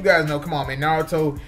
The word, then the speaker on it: Naruto: call um yes Nar his name is Naruto but someone call think Naruto yeah narudo that's what people started calling him I'm like no that's